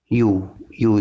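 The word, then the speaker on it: ewe: जैसे कि देखो, बुल काउ, कॉक हैन, डॉग बिच, डक ड्रैक, जैन गूज, लायन लायनेस, राम इवी, यू इसको यू प्रोनाउंस करते हैं।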